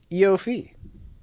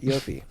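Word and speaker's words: Iofi: We'll start with Eofi. That's how you say it. Yes, Eofi.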